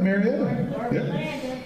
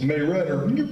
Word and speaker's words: Marietta: you've heard of it marion i said it wrong actually it's may redder i have to be teeth to say it like that i think